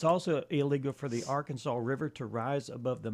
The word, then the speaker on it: Arkansas: It is illegal to pronounce Arkansas wrong. So no Arkansas. It must be pronounced Arkansas, not Arkansas. Okay, yeah.